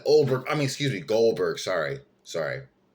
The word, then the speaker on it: Goldberg: I mean excuse me Goldberg sorry sorry sometimes I can't pronounce my G's that really say oldberg my wife is dying